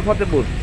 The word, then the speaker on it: ফতেহপুর: কিছু তো খাওয়া দরকার ফতেপুর না ফতেহপুর ফতে বানান করেন তো